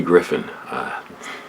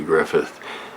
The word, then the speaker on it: Griffith: shoot the the antique griffin show and auntie griffin i i used to call andy griffith when i was a little kid i used